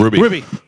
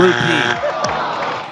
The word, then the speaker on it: rupee: scrums rugby galvin Indian currency ruby ruby uh integrity ruby oh no you said it wrong rupee no point.